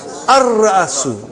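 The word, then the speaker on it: الرأس: How will you pronounce? Ar-Ra'asu. Not Al. Ar-Ra'asu.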